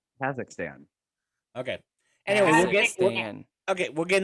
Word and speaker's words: Kazakhstan: to pronounce what's wrong am i saying kakistan wrong yes absolutely oh god just stop just stop so someone said someone else say it yet say it kazakhstan okay anyway okay we'll